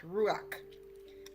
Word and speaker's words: ruach: and Christian biblical tradition is ruak r u a c h pronounced ruak meaning breath or life